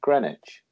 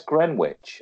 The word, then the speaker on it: Greenwich: I was working with a TV director from Utah, and he said we were talking about Greenwich. He said, "Where's Greenwich?" And I said, "You don't pronounce the W, moron."